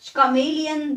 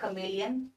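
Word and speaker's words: chameleon: रहा है फिर से जो मैंने पहले बताया था आईटी इस टिप्स नहीं पढ़ेंगे इसको आईटी इस डी कैमलायन यू सी तो सारे एनिमल आपको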